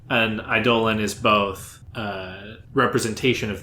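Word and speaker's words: Eidolon: Idolan. Idolan. How do you spell that?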